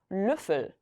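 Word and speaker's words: Löffel: 블이 되고요 숟가락이 단어입니다 얘는 으 집어넣어서 루플 루플이라고 읽으시면 되겠죠 여기서 핵심은 입모양을 동그랗게 말아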